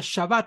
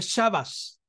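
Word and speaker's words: שבת: sin el punto interior los sefarditas la pronuncian como la t y los Haz que nacidas la pronuncian como la s por ejemplo la palabra más conocida que lleva tabla la palabra shabat verdad Unas que nacita no la pronuncia shabat sino que dice chavas chavas verdad pero esos son ya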